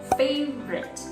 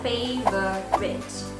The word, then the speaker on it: favorite: word let's say one for example the word favorite we don't say favor quit because the o sound